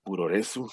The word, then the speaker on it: puroresu: Y lo mismo pasa en la lucha libre japonesa, el puroresu, como se llama, pro wrestling, así se pronuncia, que también tuvo su